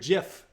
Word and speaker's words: GIF: Anyways, the question of the day, what's your favorite GIF? And it is GIF. I looked it up. I've always said GIF. So I'm not going to be a GIF Nazi, but it is pronounced GIF.